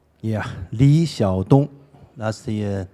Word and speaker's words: Xiadong: So did I get it even remotely right, the pronunciation? Yeah, Xiadong, that's the name in Chinese, and Liyuan Library.